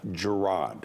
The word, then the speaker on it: Gerard: Gerard, not Gerard, right? Well, that means you're having to pronounce my name in a Scottish accent, like my mum. Gerard. In America, they say Gerard. Gerard, so I'm not, yeah.